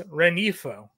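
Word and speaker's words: Rengifo: We don't pronounce the G. It's Renifo. So, okay.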